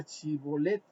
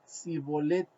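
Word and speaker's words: Shibboleth: que pronunciaran la palabra Shibolet, porque los de Efraín no podían pronunciar correctamente esa palabra, porque les era difícil pronunciar la H. Ellos decían, en lugar de Chibolet, decían Sibolet.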